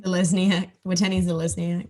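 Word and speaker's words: Watene-Zelezniak: So it was Kane Evans, Dallin Watene-Lezniak. How do you say his name? Watene Zelezniak.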